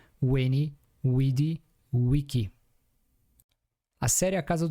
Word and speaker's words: veni, vidi, vici: Em português atual, parece que seria veni, vidi, vici. Mas em latim antigo, V na verdade era U. E o C era pronunciado como K. Então seria no final Weni, Widi, Wiki.